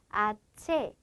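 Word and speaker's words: hache: 돼야 될 거 같죠 그런데 h n 스페인어에서 알파벳 자체가 무음입니다 그래서 없다고 생각하고 여기만 체라고 발음을 해 주시면 되는데요이 ch 비공식 자로서 치유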